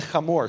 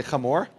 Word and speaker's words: Hamor: Now, in the English, you'll see Shechem and Hamor, but it's pronounced Shechem, say Shechem, and Hamor, say Hamor.